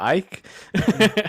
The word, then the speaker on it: Icke: from a british ex-footballer david ick or ike however you want to pronounce it also a member